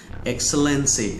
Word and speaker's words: excellency: นะ ครับ แล้ว ก็ อย่า ลืม ออก เสียง ตัว X ให้ ชัด เจน นะ ครับ your ex excellency นะ ครับ เอา ล่ะ คราว